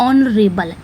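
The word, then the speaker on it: honourable: उसी तरह ऑनरेबल, एच यहाँ पे साइलेंट है, ऑनरेबल हम इसी तरह लिखेंगे आ से।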